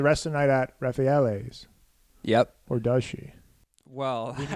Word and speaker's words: Raffaele: She's with Raffaello. Raffaele. I got the name wrong there.